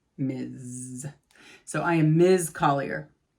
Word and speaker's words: Ms.: by their last name the way to pronounce this is with a z ms ms miz so i am ms